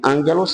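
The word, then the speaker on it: ἄγγελος: é angelos em grego Ângelos se pronuncia que significa nada mais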